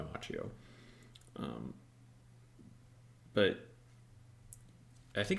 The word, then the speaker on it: Macchio: Everyone I know whose name is spelled that way, it's Machio, but I think he goes by Machio.